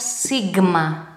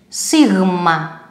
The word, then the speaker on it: σίγμα: Maybe you have heard it like sigma. Also a wrong pronunciation. Remember the word weight and take this, the first letter W, weight, and put it here. Sigma, sigma.